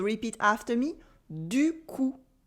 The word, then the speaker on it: du coup: You'll probably notice that the P in coup is silent, so repeat after me, du coup. Du coup.